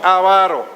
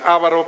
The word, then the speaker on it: avaro: Verso 3, no avaro. Muchas partes de México dicen avaro, pero así no es la pronunciación correcta.